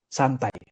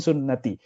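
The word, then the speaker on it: سنتي: An-nikahu, ada yang baca ini kan sin nun ta. Bacanya fathah tanwin fathah domah terus fathah lagi. Jadi an-nikahu santai. Makanya beberapa orang kok santai itu mungkin salah baca hadisnya. Bukan an-nikahu sunnati tapi an-nikahu santai. An-nikahu min sunnati.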